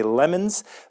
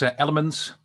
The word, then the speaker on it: LMNS: I'm not even sure if that's pronounced correctly or if I should say Lemons, but here is Roland Biemans. Roland, how are you doing today? I'm doing fine, and it's quite all right. It's Elements.